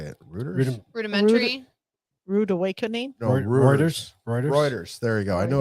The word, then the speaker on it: Reuters: I can't say it rudimentary rude awakening rewarders Reuters there you go I knew I wasn't saying